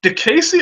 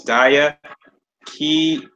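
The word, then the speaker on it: Diakiese: It's DIA, so it's Dia Kiese.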